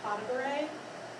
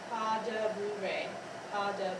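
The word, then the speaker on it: pas de bourrée: is a powder break your 6th Lord is pas de bourree pas de Bouree Bouree and this is very small steps and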